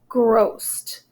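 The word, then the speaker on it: grow'st: So he has a contraction here that's pronounced oast, and then also grossed.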